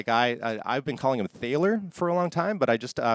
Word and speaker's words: Thaler: US Copyright Office, the guy said it's actually pronounced Thaler, not Thaler. So if you were pronouncing it Thaler, you're wrong, which I was wrong. It's Thaler.